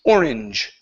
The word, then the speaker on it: orange: okay orange okay so remember words with an e at the end of it okay the E is typically silent so instead of saying orange okay the word is orange orange orange okay very